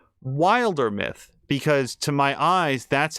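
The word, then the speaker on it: Wildermyth: uh the game except they pronounced it uh Wilder myth and it occurred to me guys it occurred to me for the very first time it's word play on Wilderness it's Wilder myth it just never I'm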